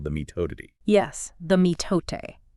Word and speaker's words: mitote: Yes, the mitote. It's pronounced roughly M-I-H-tote.